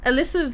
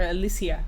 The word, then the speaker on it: Alicia: Alyssa Vikander. Alicia I think Vikander. pronounced it Alyssa or Alicia. Alicia, yeah, that's Yeah, it.